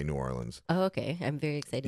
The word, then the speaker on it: New Orleans: New Orleans. New Orleans, not New Orleans. New Orleans, it's how it's pronounced. It's named after a French city named Orléans.